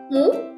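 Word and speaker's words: μ: 40 lambangnya seperti ini yaitu dibaca mu. Sedangkan 7 itu lambangnya zeta. Lambangnya seperti itu ya, bacanya zeta.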